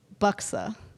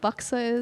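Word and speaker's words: Buxar: Well, a funny story is about Buxa. Does anyone know what Buxa is? Okay, it's spelled B U X A R, but you don't pronounce the R.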